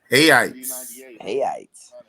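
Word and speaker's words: reais: Hayites. Because the R is always pronounced with the H. Right. That's crazy. Like Rio is Hio.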